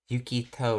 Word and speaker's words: Yukito: Yukito is how she pronounces it.